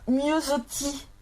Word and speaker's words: Miossoty: Alors, Miosotti, je ne sais pas si ça se prononce comme ça.